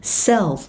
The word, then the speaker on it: self: Cái từ self nó cũng là âm E, đánh lưỡi âm L mọi người nha.